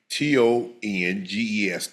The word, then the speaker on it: Tonges: So that's how you say his name. Tonges. Tonges. Listen, and based on the